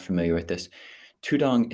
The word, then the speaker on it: tudong: not familiar with this tudong is the Thai pronunciation of the poly word dutunga so in the earliest